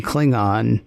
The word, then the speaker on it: Klingon: Yeah, I I I reached back to the old Kirk pronunciation for Cllingon because Sing on cling on didn't work nearly as well as sing and clinging.